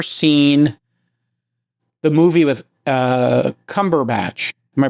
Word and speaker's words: Cumberbatch: Um if you've never seen the movie with uh Cumberbatch, am I pronouncing that?